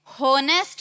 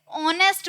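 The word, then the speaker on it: honest: अब देखो ऑनेस्ट में होनेस्ट नहीं बोलते, ऑनेस्ट बोलते हैं, साउंड किसकी आ रही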